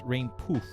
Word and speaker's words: Rainpuff: Pomu is crying, but her name is Rainpuff, but it's Rainpoof.